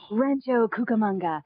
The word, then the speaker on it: Rancho Cucamonga: If you're around Rancho, how do you pronounce that word Rancho again? Cucamonga. Rancho Cucamonga.